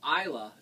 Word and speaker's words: Islay: on the isla now isla is spelled i-s-l-a-y okay it looks like islay but it's pronounced now the eyelash scotches